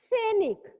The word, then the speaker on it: सैनिक: सैनिक क्या सही है? स पे ए की मात्रा आ रही है, क्या ये सही है? सैनिक। सैनिक नहीं होता है, सही उच्चारण क्या होगा? सैनिक। क्या होगा? सैनिक। यानी आय की मात्रा लगेगी।